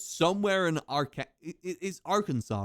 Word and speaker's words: Arkansas: Like this is our Kansas and this is Kansas. This is Arkansas and this is Kansas, but this isn't pronounced our Kansas.